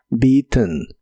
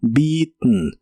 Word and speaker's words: beaten: Es similar a la forma del pasado, pero en este caso termina con e n y suena como beaten. Beaten, aunque en inglés conversacional a veces no pronuncian la e y suena como beiten. Beiten y equivale a mordido